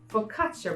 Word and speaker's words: focaccia: I don't know so I really needed to look up how this was pronounced and it is focaccia bread right so here we